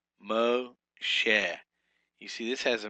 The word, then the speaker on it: Moshe: Number 24 is Moshe, not Moshe, Moshe.